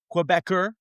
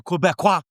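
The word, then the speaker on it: Québécois: Godwin versus Quebecer Pierre, or Quebecois Pierre. That's how you say it in French.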